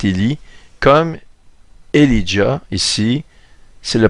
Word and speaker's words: Élie: Ça se prononce comme Élie, comme le prophète Élie, comme Elijah, ici.